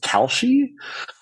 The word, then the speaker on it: Kalshi: I think it's pronounced Kalshi, Yeah.